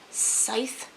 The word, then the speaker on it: scythe: series the arc of scythe and sit scythe someone said it rhymes with wife safe site oh my